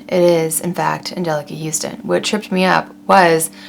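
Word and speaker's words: Anjelica Huston: i growing up i thought her name was angelica houston it is in fact angelica houston what tripped me up was the spelling of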